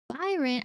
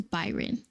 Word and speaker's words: Byran: So Byran, I'm gonna at some point I'm gonna say Brian because that's like the way it's spelled, like Brian, Bryan, but the R and the Y are switched, so Byran. But my brain reads it as Byron. I mean Brian.